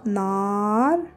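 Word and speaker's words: نار: on dit n alors il y a le son na allongé n alors on a besoin deif ici de ce voyet là Alif c'est la lettre Alif qui va venir nous faire le le son à Nar c'est le feu alors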